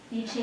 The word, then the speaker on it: I Ching: Oh, so it's like you say E instead of I. Yeah, because it's a Chinese word, Okay. and it's basically, that is the Romanized how you would spell it.